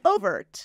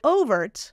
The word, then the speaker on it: overt: can say overt which is what I do or you can say overt so both are correct and it depends on what other people are saying that's what I'm going to say so the syllable stress can be a choice here that's not common that never happens overt overt overt overt but the vowel isn't going to change does that help yeah